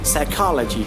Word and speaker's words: psychology: Coup, cupboard, pneumonia, pseudo, psychiatrist, psychic, psychology, psychotherapy, psychotic, and raspberry.